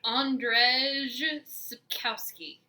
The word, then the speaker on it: Andrzej Sapkowski: Andrzej Sapkowski.